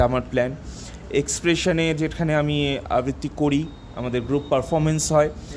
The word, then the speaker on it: আবৃত্তি: আবৃত্তিও করিস বহুকাল আবৃত্তি নিয়ে হ্যা আমি উচ্চারণটা কি আরেকবার বল আবৃত্তি আবৃত্তি আবৃত্তি ওকে তো পার্থ আবৃত্তি নিয়ে তোর